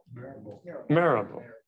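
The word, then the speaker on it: Mirabeau: Marable. I've been pronouncing that for 70 years. Say it again. Marable? Marable.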